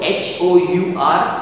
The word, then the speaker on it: hour: hour or a hour we are not pronouncing or we are not stating or speaking the sound of the letter h it is silent we